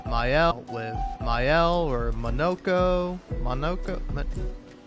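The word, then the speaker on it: Monoco: Monokco. It's not Monaco.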